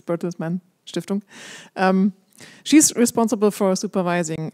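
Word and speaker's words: Bertelsmann: at the bertles manong as I heard you have to say it in German it's even if you speak in English it's bertles manong um she's responsible for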